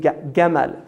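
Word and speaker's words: جمل: camel is from Yemen because the Egyptians say gamma they pronounce the gene Gamal so when the the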